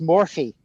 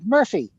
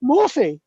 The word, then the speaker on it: Morphy: had a neighbor and her name was Morphy. Oh, That's how she pronounced it. I'm Mrs. Morphy. Yeah. And I used to, and I look at her and say, yeah, that's what I said, Murphy. And she, no, Morphy.